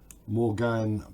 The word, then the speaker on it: Morgane: It just has an extra N and an E on the end.